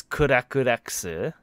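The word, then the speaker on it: CRCK/LCKS: Their katakana is kurakureksu. And it's spelled CRCK / LCKS.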